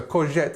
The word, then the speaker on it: courgette: This part here, it's je, so courgette. In fact, it sounds very much like the French.